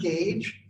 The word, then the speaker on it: gauge: that word gage um perfect english from the queen would have a u in it within the last half century engineers have dropped the u i mean you're not pronouncing it anyway right gauge g-h-e so um